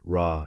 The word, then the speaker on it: Ra: Coptic recognized as the symbol for the sun pronounced rah in ancient Egyptian.